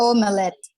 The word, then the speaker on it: omelette: porque la T en ese caso suena bastante suave. Entonces no es omelette, sino omelette.